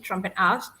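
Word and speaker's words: Trompenaars: or trumpen ass yeah Dutch pronounce it trompetas trompetas is actually basically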